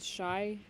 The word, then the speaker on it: Shai: Western Conference starters are LeBron, Jokic, Durant, Doncic, and Shai. I don't know. Shai. how- Shea. Yeah. Yeah, Shai? it's spelled That's Shy, solid.